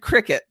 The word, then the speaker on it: Cricut: It's spelled Cricuk, but it said Cricut. It's spelled Cricut, but it's called Cricut.